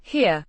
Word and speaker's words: her: her, Means here. Pronounced. her, Similar to the English word.